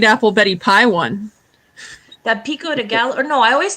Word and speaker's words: pico de gallo: own rules i think i think it's pronounced pico de gallo say it again pico de gallo i can't do that